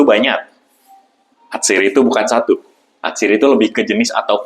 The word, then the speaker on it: atsiri: Kemudian diserap oleh bahasa Indonesia karena pelafalan orang Indonesia lebih mudah menyebutkan atsiri ya dibanding atiri. Jadi namanya atsiri.